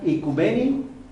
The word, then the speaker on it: oikumene: Dice, del griego antiguo, oikumenos o icumene, aunque se pronuncia icumeni, que es tierra habitada.